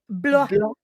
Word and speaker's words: Blois: Blois.